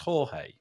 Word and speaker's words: Jorge: We've got, do we pronounce, do forgive me, is this name that I'm seeing on the screen, is that pronounced Jorge? Yes. Okay, perfect.